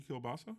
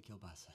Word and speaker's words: Kielbasa: name thank you kielbasa it's pronounced a bit Thanks Oh literally kielbasa literally kielbasa I could've gotten yes